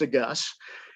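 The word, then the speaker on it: de Geus: the last name is spelled d-e-capital s it's pronounced a gus and he's a great guy um uh it's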